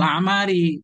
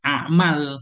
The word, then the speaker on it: a'mar: Bacanya A'mar. Karena ada riwayat lain. A'mal. Bukan A'mar.